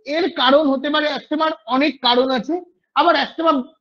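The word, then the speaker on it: asthma: যেটা সবচেয়ে কমন, অ্যাস্থেমা বা যেটা আমরা বলি অ্যাজমা, অ্যাকচুয়ালি প্রোনাউন্সিয়েশনটা হচ্ছে অ্যাস্থেমা।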